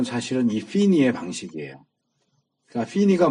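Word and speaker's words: Finney: 1차 대각성은 조나단 에드워즈에 의해서 이루어졌고 2차 대각성은 한참 뒤에 찰스 피니라고 하는이 사람은이 웨슬레적인 상성 성향을 가지고 있는 사람이에요. 조나단 에드워즈는 칼빈주의자고 찰스 피니 F 발음인데 찰스 피니는 알미니안 주의자예요.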